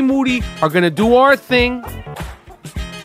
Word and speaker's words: Moody: New York aka the Jake LaMotta of podcasting I'm right here with G Moody whose last name rhymes with duty they call me black